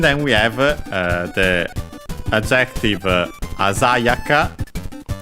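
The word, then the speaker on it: あざやか: And then we have the adjective Asayaka accented on the za, because this is a rule of those adjectives, as we'll see, that end in ka. The accent is always on the third to last syllable. So, ignoring the ka, not the ya, the za in our case.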